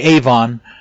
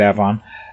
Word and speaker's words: Avon: suburb called avon which most people would say avon but out here they pronounce it avon uh the same way most people say charlotte